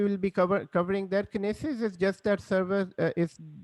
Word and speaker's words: Kinesis: there are some questions or kinetics no no no no it's kinesis yeah what is it yeah kenney says uh today we will be cover covering their kinesis is just that service